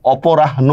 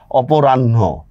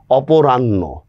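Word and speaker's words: অপরাহ্ণ: করবেন সরে পকার র আকার ন হসন্ত হ অপরাহন না অপরাণ্য হ্যা অপরাণ্য নটা আগে বিদ্রোহ শব্দের মাঝখানে যদি রফার রফলা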